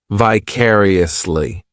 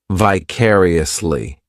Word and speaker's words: vicariously: This adverb has five syllables and the stress is on that second syllable. Vicariously. The third syllable, it's like that letter I. Just has that e sound. and the fourth syllable has the schwa vicariously.